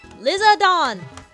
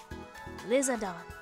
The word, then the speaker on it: Lizardon: bring I'm just going to bring the lizard lizardon it's what it's called in the Japanese anime lizardon lizardon I don't like shiny Espeon oops